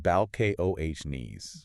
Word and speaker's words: Balcones: And that's pronounced Bal Ko Hes.